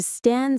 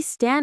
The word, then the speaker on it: stan: Stan. St. T. A. Stan. It rhymes with fan or plan, which is very fitting.